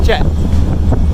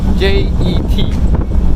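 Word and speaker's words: เจ็ด: 7 will be Jet. J-E-T. Yeah, Jet.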